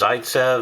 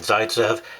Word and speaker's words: Zaitsev: way the site says rule I've heard it pronounced Zaitsev Zaytsev Zaytsev all sorts of different names for